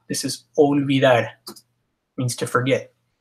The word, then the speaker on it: olvidar: La O is olvidar. Now again, this is sometimes difficult for English speakers, but it's always O. O. Not O. Don't say a W sound, it's O. O.